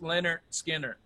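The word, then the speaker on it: Lynyrd Skynyrd: back in black versus leonard skinner pronounced leonard skinner that's just terrible i'm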